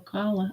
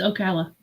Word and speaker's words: Ocala: I know I said it wrong. You have Okala. Ocala. Yeah, it's Ocala.